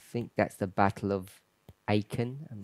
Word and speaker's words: Aachen: I think that's the Battle of Aachen. I'm not sure if I'm pronouncing that correctly. It's in Germany. Schlacht von Aachen. Is that where we had a camp meeting? Aachen.